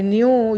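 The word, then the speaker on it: knew: बहुत होशियार हो आई न्यू YouTube able to डू इट मैं जानता था न्यू मींस जानता था यह के का उच्चारण नहीं करेंगे 9 महीने जानना उसे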